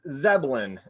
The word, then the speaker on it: Zebelian: Yeah, Zebelian.